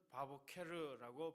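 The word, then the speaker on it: בַּבֹּקֶר: 자, 여기서 아침마다 히브리어는 바보케르라고 발음하는데 밤이 끝나고 첫 빛이 번지는 그 시간을 이야기합니다.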